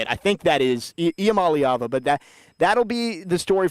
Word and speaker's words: Iamaleava: Nico Iamaleava, I believe, is the correct pronunciation.